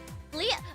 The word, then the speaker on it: Leah: Leah, no, chat, okay. Leah, but spelled L-E-A-H, not L-I-A. Her name is spelled L-E-A-H. Leah, like in Love Live.